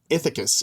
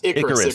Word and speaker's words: Icarus: my gosh, I don't want to say his name wrong. Ithacus. Is it Ithacus? Is it the one who flew too close to the sun? Icarus.